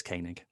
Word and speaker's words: Koenig: say his name cohen is it connig corey yeah i think i only know that because i think for two reasons for one um i think i've heard him say his name and two one of the podcasts that i used to listen to um yeah uh it's presented and she'd always say her name at the start sarah koenig so um yeah says koenig there we go i think